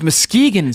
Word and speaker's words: Muskegon: Muskegon, Michigan. Really? Okay. Were they the Lumberjacks in Muskegon? What? It's Muskegon, Steve. My bad. Muskegon.